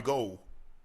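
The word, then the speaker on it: Gould: He said, you know, you I know you guys have been calling me Robbie Ghoul for a while, but actually my name is Robbie Gold, right?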